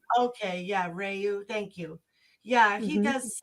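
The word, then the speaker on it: André Rieu: got some opera singers he does funny yeah Andre Rieu I think is how you say his name okay yeah reyu thank you yeah he does such fun he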